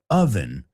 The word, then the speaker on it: oven: Siempre oigo oven, lo entiendo porque hay una O, pero así no funciona el inglés. So the moment I say, oven, that's your cue to